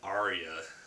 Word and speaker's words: Arya: But Arya Stark, we see her at the end of Clash of Kings, leaving Harrenhal with Gendry and Hot Pie.